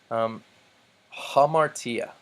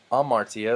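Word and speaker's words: ἁμαρτία: ace hey road ace notice I'm not saying I'll Marcia or boss or a road ace but I'm putting the H sound at the beginning because the rough breathing mark tells me to hamartia means sin hippos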